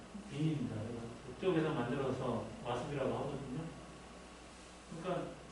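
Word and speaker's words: Wien: 제일 앞에 있는 게 인상 깊은 게 W가 와스팔 때 W가 그 빈입니다. 비엔나. 그게 이제 우리는 비엔나 그러면 V지만 그쪽 독일 계통에서는 W가 V가 발음이 나거든요. 그래서 빈입니다.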